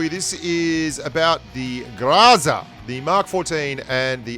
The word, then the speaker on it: Groza: you get triggered because I don't call it Groza, like as in I grow weed for a living, then that's because you don't like pronouncing things the way they're pronounced in the place where they're pronounced, like Groza.